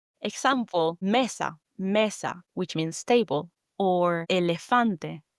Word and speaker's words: mesa: The E in Spanish is pronounced as a short P or E. So, the sound properly is E. Similar to the English word of bed. Example, messa. Mesa, which means table or elephante which means elephant.